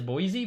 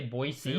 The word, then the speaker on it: Boise: it's funny because everyone in America pronounces the city Boise as Boise but if you go there they'll all say Boise warning I say Boise Boise State Boise yeah